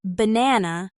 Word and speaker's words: banana: For example, in banana, the stress is on the second syllable, ba-na-na.